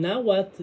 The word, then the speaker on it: náhuatl: Es náhuatl.